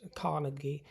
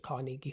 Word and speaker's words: Carnegie: I think I pronounced it Cariegi Hall for many a year, but I'm going off of Andrew Carenegi's own pronunciation of it, my dear, because he was in fact Scottish.